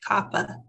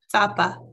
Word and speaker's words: tapa: jog his memory like i kept mispronouncing our word for grandpa i'd say kappa and one day he said no it's tapa tapa and it's like i'd